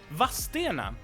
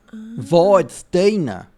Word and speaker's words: Vadstena: So they added I between the E and the N. Vadstena. But the regional variant, and thus really also the correct variant, because if you live in the city and you pronounce it as Vadstena, that's really the correct pronunciation.